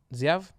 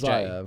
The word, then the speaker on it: XIAV: How do you think you pronounce that? Ziav? His name's Zayav.